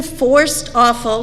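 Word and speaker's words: Forsthoefel: And Matt just informed me, his last name is pronounced the words forced and awful. Andrew Forced Awful will be coming to talk about his book, Walking to Listen, on Thursday, April 26th.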